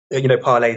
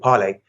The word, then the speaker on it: Parler: Parler, the social media app. I think it's pronounced Parler. Yeah, it's spelled Parler, but I think it's pronounced Parler.